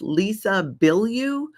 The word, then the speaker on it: Lisa Bilyeu: And I think it's pronounced Lisa Bilyeu.